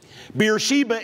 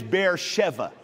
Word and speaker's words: Beersheba: your notes this morning beersheba is actually the roman pronunciation of the city in hebrew it is bear sheva bier meaning well shiva